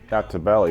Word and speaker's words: Altobelli: Well, John, how you pronounce it? Altobelli, yeah.